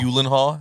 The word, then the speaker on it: Gyllenhaal: oh yeah with Jake Gyllenhaal with Jake gyllen or Ulen haal how he actually pronounces it yeah yukin lock yeah